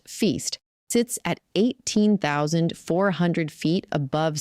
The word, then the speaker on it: FYST: Well, the new Fred Young Submillimeter Telescope or FYST, pronounced Feast, sits at 18,400 feet above sea level.